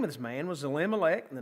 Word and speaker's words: Elimelech: That might be a better way to pronounce that. Elimelech.